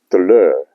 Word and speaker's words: bateleur: So the nest is of a bateleur eagle, pronounced deleur in French, and it means performer or street performer.